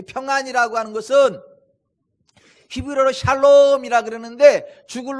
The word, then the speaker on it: 샬롬: 만족할 때까지 살아가는 거, 이걸 샬롬이라 그래요. 발음을 좀 잘못하면 살롬이 돼버려요.